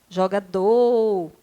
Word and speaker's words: jogador: nós temos jogador jogador a paroxítona não não é jogador a última sílaba é a sílaba tônica portanto ela é uma oxítona e não paroxítona você vai escrever a